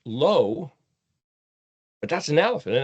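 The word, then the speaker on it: לא: Lommed alf is pronounced low.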